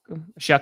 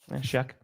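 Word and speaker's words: Shough: You know, he just shook. Excuse me. Shuck. Shuck. And it's hard when the name is spelled in no way like it sounds.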